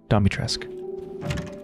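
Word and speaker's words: Dimitrescu: likes of you sorry so they pronounced it domitress so i'm going to pronounce it that way domitresque okay they didn't see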